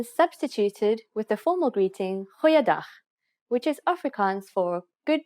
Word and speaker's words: Goeiedag: G. Try pronouncing it from the back of your throat. Goeiedag, goeiedag, ek is Anne-Marie Luck.